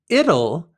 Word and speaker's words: it'll: Additionally, the word it'll is it will in the future. The pronunciation might be difficult, so pronounce this word like the word little with an L.